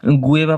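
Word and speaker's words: guava: What is not fruit, lychee, ginger, বেরি না গুয়াভা, এটাকে কিন্তু অনেকে আবার গুয়েভা পাতার চা বানিয়ে খেতে বলে, গুয়েভা বলে এটাকে অনেকে, ঠিক আছে, এটা কিন্তু গুয়েভা নয় উচ্চারণ, এটা হচ্ছে গুয়াভা।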